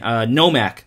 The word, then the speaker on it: Nomak: Nomak.